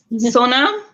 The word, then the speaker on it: Sonam: Sonam? Am I pronouncing it correctly? Yes, Sonam, like my arm is so numb, but not spelled that way.